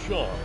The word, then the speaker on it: Sean: a humble merchant guy my name's sean it's pronounced shawn i don't know why